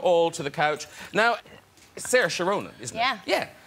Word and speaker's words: Saoirse: Yeah, I don't think I actually pronounce my name the correct way. I say Saoirse, but a lot of people in Ireland say, no, it's actually Saoirse. I think you're saying that wrong.